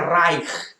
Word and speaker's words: Reich: alemán el primer raid no se escribe reich se pronuncia rain y es ahí pues